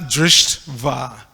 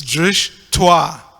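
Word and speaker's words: दृष्ट्वा: You have to break the words into syllables, so that last word on the first line is not drishtva, it's drishtva. So you break drishtva. But because of our English inculcation, we like to break things differently. But it's actually two syllables, drishtva, not drishtva.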